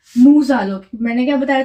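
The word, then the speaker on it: nous allons: था देखो नू के बाद देखो इस वर्ड के लास्ट में क्या है एस और जो इस वर्ड के बाद जो वर्ड है वो वॉबल से स्टार्ट है तो हम इस वाले एस को प्रोनाउंस करेंगे वैसे जनरली एस प्रोनाउंस नहीं होता बट इस वर्ड के बाद वर्बल है तो इसे हम एस को प्रोनाउंस करेंगे तो ये हुआ नूज आलो इसका मीनिंग हुआ वी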